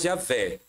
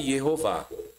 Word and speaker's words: Jeová: pronúncia do tetragrama mostram judeus de várias eras pronunciando o nome de Deus e todos do mesmo mesmo jeito nunca yahu e jamais Javé da onde vem Javé em português mas sempre Jeová é só você atentar o artigo digita aí